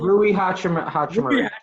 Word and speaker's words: Rui Hachimura: Rui Hachimura.